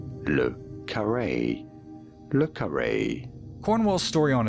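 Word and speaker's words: le Carré: How do you go about pronouncing it? Lukare from French. Lukare. Lukare. Lukare.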